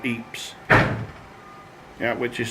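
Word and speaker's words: Ypres: in a famous battle was going on called eeap's yeah which is spelled why p r e s eats in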